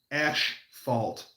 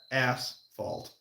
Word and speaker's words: asphalt: How many people say ash fault instead of ass fault?